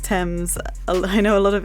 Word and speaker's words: Thames: Anyways, yeah, it's on the River Thames, spelled T-A-M-E-S, but pronounced Thames. I know a lot of English doesn't make sense, and I've heard a lot of my US friends say it wrong, saying like Thames and things like that.